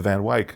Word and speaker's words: Van Wyck: It's the Van Wyck. Oh. It's Wyck. And how Right? did they say it on Seinfeld when they used that road? Wait, it was on Seinfeld? Yeah. Van Wyck?